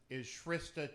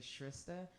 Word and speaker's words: Shrista: went by because people couldn't say Shrista. They always said Shrista, which is weird because it's spelled just like Krista, just like Trista, and I don't think Kristas and Tristas get called Kristas and Tristas.